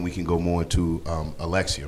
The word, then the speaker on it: Alexia: on, and then we can go more into Alexia, right? Am I saying it correctly? Yes, Alexia.